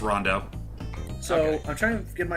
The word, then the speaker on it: Rondo: back I in the thought it day was when pronounced people were like- Roundo. It's Rondo.